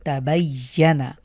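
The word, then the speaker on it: تَبَيَّنَ: আমরা ইয়ার যে মাখরাজ আছে আমরা জানি, ইয়া এবং জিম শিন ইয়া, এই তিনটি হরফ জিভের মধ্যখান তালুর সাথে স্ট্রংলি লাগিয়ে আমরা উচ্চারণ করব, তাবায়্যানা।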